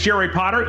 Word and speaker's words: Jerry Potter: release another helpful video my name is jerry potter yes it rhymes with the boy wizard and in this video